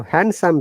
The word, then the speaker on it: handsome: and some are together the d is not pronounced so handsome becomes handsome phantom very